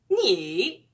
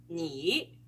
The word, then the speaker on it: 你: Instead, to pronounce any third tone word, start from the lowest pitch of your voice and then raise it to a high pitch. 你.